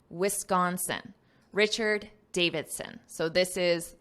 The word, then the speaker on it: Wisconsin: neuroscientist from the University of Wisconsin notice this pronunciation Wisconsin Wisconsin Richard Davidson so this is the neuroscientist who